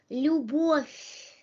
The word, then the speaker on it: Любовь: So let us read the rules, read the words with the rules, and remember the pronunciation of these words, and remember the rules which correspond to these words. Любовь.